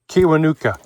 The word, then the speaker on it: Kiwanuka: Beck, this guy Michael, I can't pronounce his name. Uh, great. Come on, help me out. Kiwanuka.